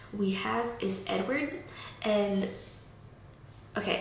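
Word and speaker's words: Édouard: The next name we have is Edward, and okay, I said the English pronunciation, let me say the French pronunciation. Edouard.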